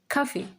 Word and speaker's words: café: Le café. So, this is easy. It's just le café. Le café. This French C is read as K. K. Café.